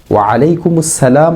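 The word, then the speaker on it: ওয়া আলাইকুম আসসালাম: স্থানে ওয়ালাইকুম আসসালাম বলি ওয়ালাইকুম আসসালাম অশুদ্ধ বরং বলতে হবে ওয়ালাইকুম আসসালাম আবার অনেকে আলাইকুম স্থানে ওয়া আলাইকুম হামজা দিয়ে পড়ি আইনকে হামজা দিয়ে পড়ি এটিও অশুদ্ধ কমপক্ষে এতটুকু বিশুদ্ধ উচ্চারণ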